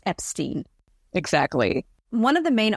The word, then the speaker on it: Epstein: about pronouncing an Epstein the correct way to pronounce it it's Epstein Brian Epstein is the correct way to pronounce